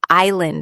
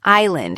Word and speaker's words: island: Or think about silent letters in words like island and castle. Why is there an S in island if we don't pronounce it?